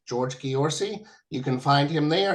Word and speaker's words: Ghiorse: the last couple of years his last name is spelled g h IO RS e George Gori you can find him there and I recently